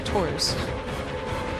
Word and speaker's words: Tours: So is it pronounced Tor or Tours? In French, Tour. Oh, okay. So you're English saying Tours. the English way, I guess.